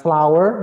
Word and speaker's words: flour: Ini bacanya hampir sama kayak bunga, flour. Bedanya gini, bunga dibaca flower, W-nya rendah. Tapi kalau tepung flour. U-nya apa U-nya melayang, flour. So different between flour and flour.